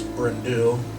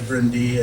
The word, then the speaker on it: Bryn Du: in Welsh which we it looks like it's bryndl that's how we pronounce it but oh guys really brindy and it stands for dark Hills he named